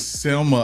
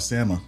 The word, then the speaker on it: Selma: Is it Sama or is it? You giving me Salmon. Uh, uh, Salmon Selma vibes. You It's Selma, Alabama. I call it Sama.